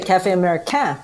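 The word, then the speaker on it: Café Americain: i was like damian how would you say it cafe america it's really cafe america right it's french so that was my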